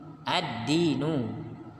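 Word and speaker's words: الدين: adalah Alkitab Alkitab addinu addinu racikan dua contoh tersebut beda cara membacanya yang pertama Alkitab Alkitab u dibaca awalnya yang kedua Edi nu addinu lamnya tidak terbaca Hai kemudian tidak diawali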